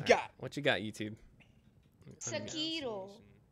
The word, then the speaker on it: Sekiro: Sekiro. Sekiro? Is that it? Shakira? Sekiro. Like the Sekiro. Not Shakira.